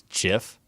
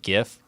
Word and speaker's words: GIF: damn right I do because you don't pronounce graphics like Jurassic so why would you